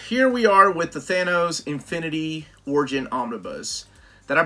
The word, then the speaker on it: Thanos: the earlier appearances of Thanos Thanos Thanos however you want to pronounce it I pronounce that they knows cuz I'm an idiot